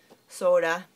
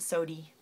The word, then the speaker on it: soda: Soda. My St. Louis relatives pronounce it sody.